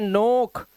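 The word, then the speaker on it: knock: सभी वर्ड में देखो एन से पहले के दिखा दे रहा है आपको तो इसलिए ये साइलेंट है तो इसे सिर्फ पढ़ते हैं नोक नीड नाइफ नो के को नजर अंदाज कर रहे हैं के को पढ़ ही नहीं रहे हैं अब यहां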